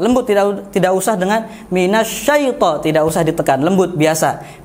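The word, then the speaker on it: من الشيطان: lembut Mini Syaiful lembut diraut tidak usah dengan minasyaiton tidak usah ditekan lembut biasa Minaj Saiful baik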